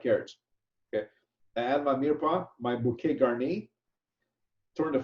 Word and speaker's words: mirepoix: So I fabricate my chicken, I put my chicken in, I put my mirepoix, which mirepoix is spelled M-I-R-E-P-O-I-X, mirepoix, and it's a combination of onions, celery, and carrots.